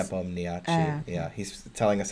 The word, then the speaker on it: Nepomniachtchi: Nepomniachtchi. Yeah, he's telling us how to pronounce every everything phonetically.